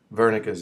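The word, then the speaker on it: Wernicke: W German um so it's pronounced like with a V Sound vernica area so this interprets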